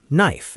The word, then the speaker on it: knife: Think of words like knee, no, knife, and knock. Today, that K is completely decorative.